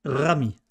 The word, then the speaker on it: Rami: prononciation Rami comment Rami il faut rouler le r Rami bien bon mais c'est